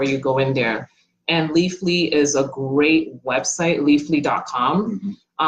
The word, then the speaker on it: Leafly: Leafly. Yeah, I was mispronouncing that.